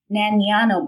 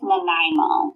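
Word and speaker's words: Nanaimo: Nano bars. I probably butchered the name. Canadians, I expect to hear from you to correct me. I'm pretty sure it's Nimo.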